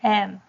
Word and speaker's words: ㄜ: ㄜ and ㄦ ㄜ發音時不能改變你的嘴形 Pronounce ㄜ without changing your mouth shape 有一個直接了當的聲調並振動聲帶 have a clear and straightforward sound and vibrate the vocal cords ㄜ e ㄜ e